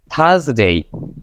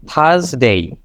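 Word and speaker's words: Thursday: উচ্চারণটা পড়ে থাকি তো আর এর উচ্চারণটা জাস্ট আপনি স্কিপ করে দিবেন তাহলেই মোটামুটি হয়ে যাচ্ছে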